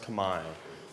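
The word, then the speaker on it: Khmer: And the people there, it's written out like Camar, but it's pronounced Kamai. So, you can call them Cambodian or you can call them Kami.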